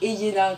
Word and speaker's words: Ielena: Et il me dit, ça fait Eyena, donc c'est très bizarre, les 2 L, ça fait Yé, ça se prononce bizarrement.